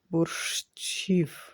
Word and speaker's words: Борщів: And in transcription it should be борщів. But it is too many chi in this case, but let it be in pronunciation, it will be like one chi, борщів. So it could be like one sound.